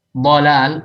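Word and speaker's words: ضلال: Dhalal, dha, dhalal, kesesatan, dha itu pakai dhad.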